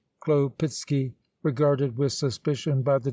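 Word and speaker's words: Chłopicki: tororisky pronounced sar torisky khloe picky khloe pitsky regarded with suspicion by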